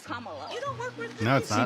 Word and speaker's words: Kamala: to say her name earlier you said Kamala way she pronounces her name is Kamala you don't work with